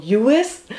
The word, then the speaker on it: Lluis: And this is a wine produced by a very passionate young Catalan named, it looks like Lluis, but it's 2 L's, so in Spanish that's pronounced like a Y, so Lluis.